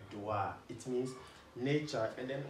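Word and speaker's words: Doğa: silence g you know their soft g so it kind of extends the o in the name so dua like dua it means nature and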